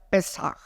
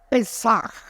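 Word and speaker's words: פסח: Pascua que en hebreo se dice pan atención pesaj Cómo se dice en hebreo pesaj Pero ha así pesaj bueno es que alguien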